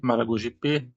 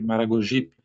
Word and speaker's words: Maragogipe: Ao contrário do super, o P está no grupo das posposições átonas, ou seja, esse P ele nunca leva acento tônico. Não pronunciamos Sergipe, Maragogipe, mas Sergipe, Maragogipe.